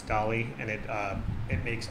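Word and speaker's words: DALL-E: Dolly I don't know it's spelled like Wally but it's Dolly and it uh it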